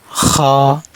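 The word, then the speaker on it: خ: খ হলকের শেষ অংশ থেকে উচ্চারণ হবে, মানে গলা শেষ অংশ থেকে উচ্চারণ হবে। এরকম উচ্চারণ করবেন।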